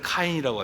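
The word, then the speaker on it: קין: 여러분, 우리가 가인과 아벨의 이름, 그 히브리어 발음을 하면 가인을 카인이라고 하죠.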